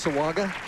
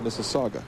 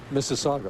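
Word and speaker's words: Mississauga: people in Ontario I I hate to correct you Mike but that's Miss Saga Miss Saga okay well I don't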